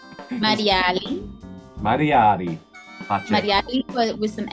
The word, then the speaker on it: Marialy: Mariali.